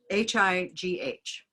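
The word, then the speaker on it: high: And the word was H-I-G-H. And she said, "Oh, that's hi. You know, it's a silent GH, and it's kind of like saying hi."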